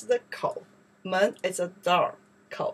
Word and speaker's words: 口: And inside, we pronounce the kou.